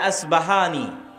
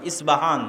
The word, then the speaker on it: ইস্পাহান: প উচ্চারণ করি ইসপাহান আরবিতে এটা উচ্চারণ হয় না আরবিতে হয় আল আসবাহানী বা উচ্চারণ হয় ইসবাহান বা আসবাহান সেখান থেকে 70 হাজার ইহুদি দাজ্জালের সঙ্গী সাথী হবে এবং মুসলমানদের বিরুদ্ধে যুদ্ধ করবে।